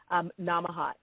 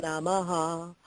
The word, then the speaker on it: Namaha: It's kind of spelled multiple ways if you look on the internet, on the webosphere, but that's one way to spell it. Namaha, N-A-M-A-H-A.